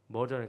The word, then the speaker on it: murder: murder 그러니까 엄마 mother 같죠? 근데 mother가 아니고 murder. 영어 단어가 murder 해가지고 murder라는 단어인데 이 단어는 뭔 뜻이냐면 살인이란 뜻이에요.